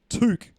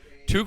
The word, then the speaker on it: toque: beanie completely wrong and he's saying that it's pronounced toque is that correct toque would be correct tuque is definitely the